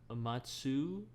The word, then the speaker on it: Matsushita: I'd also say September Rain by Makoto Matsushita. I totally butchered that. Matsushita.